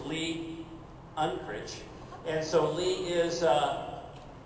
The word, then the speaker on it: Lee Unkrich: screen for everybody and everybody pronounces him Leon crit it's not Leon crit it's Lee unit and so Lee is